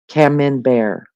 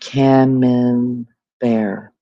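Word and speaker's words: Camembert: It's pronounced camman. Cameman bear. Oh, lord. DJ, you have a t-bone and veggies ready to go. When I feel like pronounced cam bear got it cooking pork chops at Maggie and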